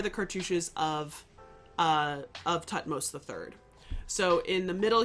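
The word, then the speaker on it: Thutmose: Tutmos is a ro greek or helanized version of jihudi mess.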